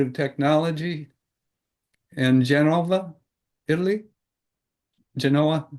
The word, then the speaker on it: Genova: Genova. Genova. Genova. Genova. Correct. No V, but it's pronounced like a V.